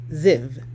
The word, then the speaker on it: Ziv: And so, in the King James Version Bible, it's pronounced Ziv.